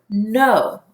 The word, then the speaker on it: know: have our example word no and this know is if you know something in your mind so if you look here the K is silent these two letters to